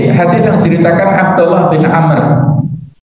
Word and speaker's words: Amr: Jadi hadis yang diceritakan Abdullah bin Amr. Jadi kalau tulisan begini ada bahunya bacanya Amr ya. Kalau nggak ada bahunya bacanya Umar.